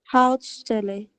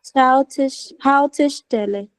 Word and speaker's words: Haltestelle: Hautstelle. Schau mal, es gibt ein E zwischen Haut und Stelle. Haltestelle.